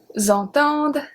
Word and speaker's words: entendent: We do, however, pronounce the D at the end of il and elle because we have ENT after.